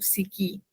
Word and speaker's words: SICCI: Uh actually to tell you the truth ng uh I did not know that I was applying to siki. Uh that's how we pronounce sicci.